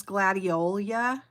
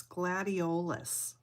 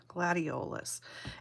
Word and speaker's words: gladiolus: I always thought it was gladiola, but that's not how it's spelled. It's gladiolus, L-U-S on the end, gladiolus.